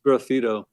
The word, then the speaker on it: graffito: And then graffito, is that how you pronounce that? Graffito. It's graffito.